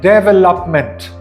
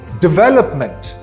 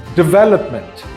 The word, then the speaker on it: development: by many people as development however not all the syllables in this word are stress equally so it's pronounced development with the second syllable being stressed the most again this word is pronounced development this word is consecutive